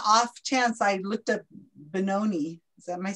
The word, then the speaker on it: Benoni: Hey, just on the off chance, I looked up Benoni. Is that, am I saying it right? On Wikipedia. Benoni.